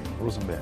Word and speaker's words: Rosembert: Rosembert. That's how it's pronounced.